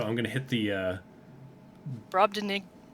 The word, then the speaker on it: Brobdingnagian: Brobdingnagian. Thanks, Google. Brobdingnagian. I said it right.